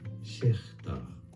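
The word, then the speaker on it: Schacter: It is normally said as Schechter.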